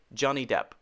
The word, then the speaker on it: Johnny Depp: Not Depp, just P. Johnny Depp.